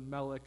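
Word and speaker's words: מלך: king it's the word melik that's how you pronounce that fun arrangement of symbols up there that i hate looking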